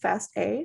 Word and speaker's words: FASTA: william pearson doesn't say sanger okay fast is pronounced fast a stands for fast all because it works with